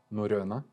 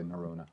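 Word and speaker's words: Norrøna: Norrona. Very cool. I'm not even going to attempt Norrona. that. I have some Norwegian in me, but as a North American would say, it's you would say Norrona.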